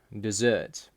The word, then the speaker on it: desert: English we emphasize syllables for example desert desert the only difference in pronunciation is which part you emphasize in Russian however they